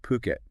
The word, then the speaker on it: Phuket: We're talking about puket. Puket, right? Puket. Not uh not the way you sometimes hear it.